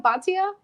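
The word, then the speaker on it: Bhatia: So I went with Reeve, and then Webb, Neiman, Grillo, and I don't even know how to pronounce. But is it Batia? Batia?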